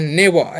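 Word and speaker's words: never: ठीक है यानी कि आर क्वेश्चन साइलेंट ही लगभग कर देना है नेवर ऐसे बना नेवर ठीक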